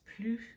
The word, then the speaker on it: plus: we're going to use plus before the adjective and que after. The S is silent here.